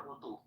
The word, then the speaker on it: Rutu: R-U-T-U is how she spells it, but she says it's pronounced Rutu. Ritu or Rutu?